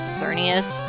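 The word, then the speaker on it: Xerneas: decided to get X I believe the right pronunciation for the legendary is xerus and yes I mean if you don't like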